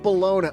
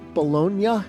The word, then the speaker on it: Bologna: The question is the city of Bologna. Wait, Joe, is it Bolognia? I think it's Bolognia, isn't it? I was nailing all these Italian pronunciations, and I've been screwing that one up the whole time.